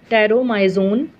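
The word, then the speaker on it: Petromyzon: Only unpaired fins, देखो हमको ये जो दिखा रखी है जो लेस वर्टिब्रेट्स, टेरोमाइजोन, पी यहाँ पे साइलेंट रखेंगे, टेरोमाइजोन भी कहते हैं हम इसको, जोलेश फिश है ये।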